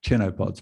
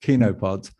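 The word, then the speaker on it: chenopods: grasses legumes and kinopods sounds like it's pronounced chinopods but it's actually pronounced kinopods uh and that mix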